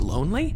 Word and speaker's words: Lonlée: Wait, is your last name pronounced lonely? Yeah.